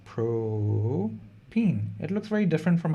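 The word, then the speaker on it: propene: molecule exactly it's propane how do you say propine it's an alkene with three carbons no biggie this is pro-peen it looks very different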